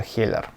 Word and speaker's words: Heller: beautiful models from Hiller or probably in French pronunciation it will be how euler write how you think it will sound more correct I'm probably still more accustomed to pronouncing in English transcription As a heller, I was honestly pleasantly